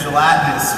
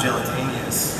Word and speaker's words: gelatinous: yeah, I had no idea that gelatinous was not gelatinous.